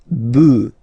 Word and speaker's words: bœufs: this s, but then pronunciation changes quite much, because you get des bœufs, all right, un bœuf, des bœufs, all right.